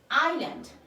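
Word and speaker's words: island: আইল্যান্ড এই টা হচ্ছে সাইলেন্ট রয়েছে সো এটার উচ্চারণ হবে আইল্যান্ড আই এস এল এন ডি আইল্যান্ড মানে হচ্ছে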